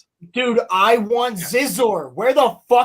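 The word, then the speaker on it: Xizor: I was just talking about Scissor. No, Zizor. So, it's spelled it's spelled X I Z O R.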